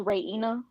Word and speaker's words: Raina: And Raina, is it Raina? How am I saying it right? Well, it's actually pronounced Raina.